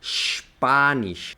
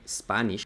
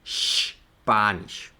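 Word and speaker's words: Spanisch: ejemplo es p sería por ejemplo español en alemán se lee spanish spanish no se dice spanish como en inglés sino spanish y con este t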